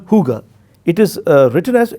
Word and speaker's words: hygge: but there is a concept in denmark called hygge it is written as h y g g e i would request the viewers to check it out is pronounced as hygge it means a coziness of